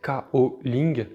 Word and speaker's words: Gaoling: Le kaolin tient son nom de la ville de Gaoling en Chine, qu'on prononce aussi Kaoling.